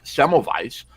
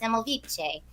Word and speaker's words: Semmelweis: I do think though that since he's from Vienna, it might be pronounced Semmelweis.